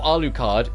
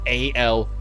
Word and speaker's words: Alucard: So when you put it backwards, then you go, oh, Alucard, Alucard. Now you know, like you remember the U's there if you do Dracula first, because you pronounce the U in Dracula.